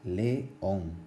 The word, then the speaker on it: león: Tiene dos sílabas, león. Se pronuncia en dos golpes de voz diferentes. ¿Y por qué lleva tilde? Porque el énfasis o la vocal tónica o la sílaba tónica está en la O, y es decir, en